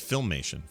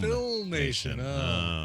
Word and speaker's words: Filmation: I'm sorry I'm oh I'm being told it's filmation film filmation okay makes sense that's a complete lack of filmation uh so that's going on that's a thing